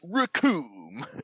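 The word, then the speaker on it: Recoome: basically a professional wrestler raccoon it rhymes with doom and then captain ginyu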